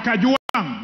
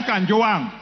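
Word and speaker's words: Kajwang: Speaker, first of all, first of all, pronounce my name properly. I'm not Gachechwa. I am Kajuang, not Kanjoang.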